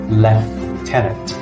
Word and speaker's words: lieutenant: first this is pronounced Lieutenant lieutenant in British English it's even more irregular it's pronounced left tenant with the F sound here left Talent so you